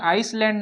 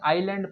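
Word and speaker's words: island: आइसलैंड नहीं पढ़ेंगे, इसे क्या पढ़ेंगे, आइसलैंड नहीं पढ़ेंगे। क्या पढ़ेंगे, आइलैंड पढ़ेंगे, क्योंकि एस साइलेंट है।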